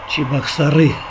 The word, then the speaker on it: Чебоксары: что сейчас посмотрю гарринча чебоксары чебоксары правильно говорить и сам недавно узнал по моему в википедии вычту да через населенный